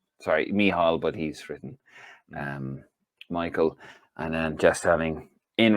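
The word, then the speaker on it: Mícheál: Although he says Michael. Myself and Jeff Stelling spent a cracking week with Michal. Sorry, I'm reading it phonetically. Michal, as he educated us on the GAA.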